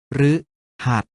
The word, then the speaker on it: พฤหัสบดี: เสียง ว่า ฤดู หรือ ตาม หลัง คอ ควาย เช่น พฤหัสบดี ออก เสียง ว่า ค้า พฤหัสบดี หรือ ตาม หลัง นอน หนู เช่น นฤนาท ออก เสียง ว่า น้า นฤนาท รึ ตาม หลัง พ.